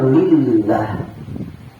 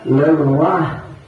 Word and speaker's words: lelah: Dibacanya lillah. Sedangkan bahasa Melayu itu bahasa Melayu juga bukan dibaca lillah, itu sebenarnya lelah.